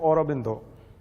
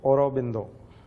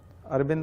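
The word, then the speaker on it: Aurobindo: व्यक्ति हैं अरबिंदो कोश अगर प्रोनाउंस आप बंगाली में करेंगे तो और बिंदो ए यू आर ओ बी ओ बी आई एन डी ओ और बिंदो अरविंद नहीं बोलते हम लोग हिंदी में अरविंद बोलते हैं अरविंद घोष रविंद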